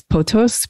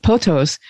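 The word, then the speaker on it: pothos: uh word in ancient greece and i'm probably mispronouncing it maybe you know but it's potos p-o-t-h-o-s which basically was a way of expressing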